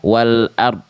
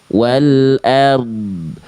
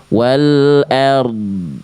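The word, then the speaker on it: والأرض: Maka ketika tadi Bang Refi melafalkan dini yang jadi sukun, jangan sampai dibaca wal ard. Nah, bunyi di sini dari d harus ngalir karena itulah sifatnya. Jadi dibacanya gimana? Ala innillahi maa fis samawati wal ard. Nah, bunyi id di sini harus mengalir. Wal ard. Wal ard. Jadi si ro sukunya dialirkan sedikit karena dia punya sifat namanya tawasut.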